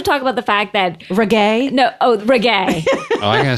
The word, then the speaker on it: reggae: He's like, so I've been reading about this Reggie music.